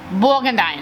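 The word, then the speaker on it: Bourgondien: I had to look that up how to say it because it's spelled weird. Borgendien. Borgendine, there it is.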